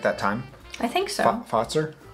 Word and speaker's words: Fazer: time i think so foster thanks you guys spelled it out for me it's like f-a-t-z-e-r oh that's how you're supposed to pronounce it yeah so canelo if